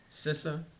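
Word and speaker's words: CISA: letter with cyber security infrastructure and Security Agency sisa is that how you say it yes sir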